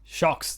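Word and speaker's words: Sjokz: Yeah, I remember the pronunciation. Shokes. I was like, really? Is that what it is? Shocks, that is.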